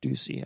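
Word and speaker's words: Doocy: And then there's stuff that's just unwatchable, like Fox and Friends, Steve Ducey, and I know it's pronounced Ducey.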